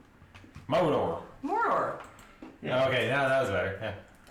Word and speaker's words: Mordor: Modor. You're putting a real short, like, you're putting a real short pronunciation on that first R. Mordor.